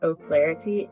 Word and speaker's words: O'Flaherty: like the letter and my last name is O flarity and it's a hard one so of course